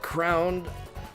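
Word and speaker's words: K. Round: It's it's it's crowned because he's crowned.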